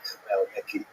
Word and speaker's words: Khmelnytsky: And it's sometimes spelled with Roman characters with the Polish spelling, making it look something like Khmelnytsky. It's actually pronounced Khmelnytsky with a guttural at the beginning.